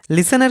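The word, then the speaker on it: listen: লিসেনের ক্ষেত্রে টি সাইলেন্ট।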